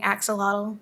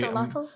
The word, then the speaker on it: axolotl: You gotta do the thing with your tongue with the TL though. It's very kind of difficult. So you want me to spit on the mic? No, you just kind of have to like lift your tongue up in the middle.